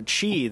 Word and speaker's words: Qi: If you want to look up this wireless charging stuff, the Qi that we've been referring to is the wireless charging standard that's the most popular right now.